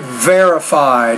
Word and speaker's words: verified: so take the word verified has been verified down to the atomic level just pronounce the V with a little more vibration so we know that it's not a b consonant sound very good on your